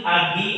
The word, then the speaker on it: AGI: Ada Ani, Agi, Asi. Bacanya Indonesia ya.